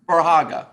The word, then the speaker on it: Verhage: Verhage.